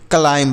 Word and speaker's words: climb: क्योंकि यह जो यह बी है ना, यह साइलेंट है, इसे नहीं पढ़ते हैं।